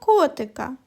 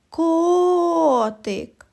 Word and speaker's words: котик: А тепер покличемо котика. Котик. Наголос падає на звук о. Він і називається наголошеним. І промовляють його з більшою силою і довготою.